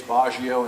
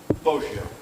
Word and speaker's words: Boggio: Something that came up there, you pronounced the victim's name two separate ways, Baggio and Boggio. Is there a member of the family here that can tell me what the correct pronunciation is? How do I pronounce it correctly? Boggio.